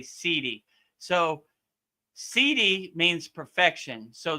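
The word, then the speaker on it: siddhi: It's spelled s i d s i d h i right sidi. So it sounds like cd but it's really sidi.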